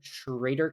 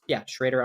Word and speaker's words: Schroedter: I am Schrader K, and my name is impossible to spell, so I spelled it phonetically. It is SHR, the number 8 R underscore K. So that is, Schrader underscore K.